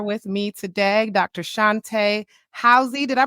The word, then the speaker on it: Howze: Shunte Howze. Did I pronounce that right? I'm at the How?